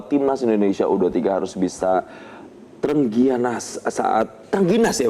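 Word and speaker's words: trengginas: Dan pemirsa, pengamat sepak bola Fernand Huta Barat mengatakan bahwa timnas Indonesia U23 harus bisa terengginas ya bacanya.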